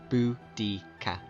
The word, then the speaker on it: Boudica: However, the most likely spelling, even in the Celtic language, is still Boudica, pronounced Boudica.